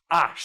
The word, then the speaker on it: hash: And it's hash, but you don't pronounce that fuck. If you're from Yorkshire, you do not pronounce that fucking H. H does not exist in our language.